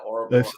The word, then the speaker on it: Ouroboros: Yeah, it's kind of like the Ouroboros. Yeah. Is that how you pronounce that? I was. Yeah, Ouroboros.